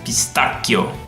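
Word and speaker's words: pistacchio: way is parmigiano pistachio the Italian word is beast akio the English pronunciation of this bolognaise came from French and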